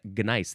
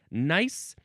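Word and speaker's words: gneiss: is found commonly in gnice. That's the word g ne i ss. Is it pronounced nice? Well, I added the G sound to help you understand that it was different than the word nice.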